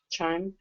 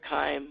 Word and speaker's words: chyme: have that here anywhere chimes i've heard pronounced both ways just like duodenum and do a dam so chime or chyme wherever you want to pronounce it but it's a liquid